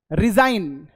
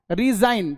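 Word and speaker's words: resign: रिजाइन, रिजाइन तो G silent, N, इन, रिजाइन, ठीक।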